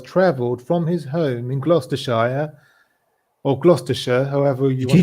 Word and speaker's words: Gloucestershire: over on that side of the pond. Gloucestershire. Pronounced like us Americans say sure when we're lazy.